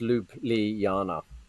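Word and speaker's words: Ljubljana: slovenia was he knew already um and it's pronounced lupe li yana ah thank you rogie thank you mate we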